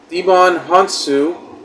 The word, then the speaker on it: Djimon Hounsou: Patrona Grace Caroline Curry making good Lucy Liu Devon hansu that's how it's pronounced Helen Mirren with Mark millen's Cooper Andrews